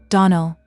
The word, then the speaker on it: Donnell: Donnell accent on the last syllable, and St.